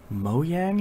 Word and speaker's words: Mojang: how microsoft owns Mojang which I think it's move mo yang is how it's supposed to be pronounced minecraft in Cobalt hmm